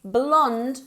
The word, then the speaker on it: blonde: then in that case, blonde with no E, okay? It ends in a D. But in both cases, it's pronounced exactly the same. It's blonde, con una D fuerte al final.